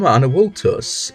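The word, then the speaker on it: Anavultus: Hello, I am Anawultus, spelled with a V but pronounced with a W.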